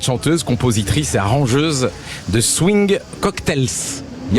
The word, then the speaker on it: Swing Cocktails: Vous êtes chanteuse, compositrice et arrangeuse de Swing Cocktails. Il y a il y a un S à la fin donc il faut que je le dise. On le prononce pas mais comme ça on le sait.